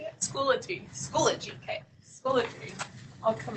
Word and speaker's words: Schoology: Schoology.